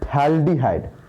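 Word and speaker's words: phthalaldehyde: इसका common name जो होता है वो होता है थैल्डिहाइड, थैल्डिहाइड, ये PH लगता है शुरू में, थैल्डिहाइड, थैल्डिहाइड, है ना।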